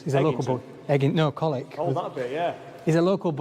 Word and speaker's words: Colwick: I'm glad you said that because I didn't know how to pronounce it. He does. He's a local boy. No, Colwick.